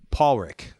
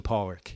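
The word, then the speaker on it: Pádraic: to your original question Paul Rick right yeah how do you say it okay I'm team Pollock here's why column destroys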